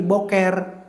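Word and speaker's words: בוקר: Orang Yahudi juga menyebut pagi hari itu bakaro tapi bacanya dalam bahasa Ibrani boker.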